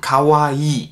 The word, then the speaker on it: kawaii: man hat das lang es ist kein kurzes ii und das hört man finde ich oft in deutschland dass ankara oder just cavalli sondern das ist also ganz wichtig dass sie wird lang ausgesprochen cavalli wenn ihr das